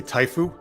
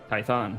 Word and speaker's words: Typhon: trust you hey son sorry Typhon okay Typhon like song but son um but yes you